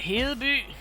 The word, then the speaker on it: Hedeby: Otherwise you got Hedeby, Ribe and Aarhus. I'm basically using the Danish names as they're supposed to be pronounced in Danish for them, by the way.